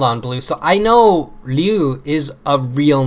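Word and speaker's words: Ryuu: So I know Ryu is a real name, but that's not what they said it was. They spelled it like that. They spelled R-Y-U-U, but they said Ryu.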